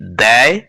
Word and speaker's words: দেয়: সেখানে কিন্তু আঁকড়ি নেই প্রথম শব্দটির উচ্চারণ বলতে হবে দয় জ ফলা আকার এবং পরের শব্দটির উচ্চারণ করতে হবে দয় এ সেইজন্য আমরা প্রথম শব্দটিকে বলি দেয় এবং পরের শব্দটিকে বলি